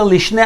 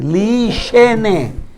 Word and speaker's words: lishene: Again, not lishne, lishene. Someone yashen, sleeps.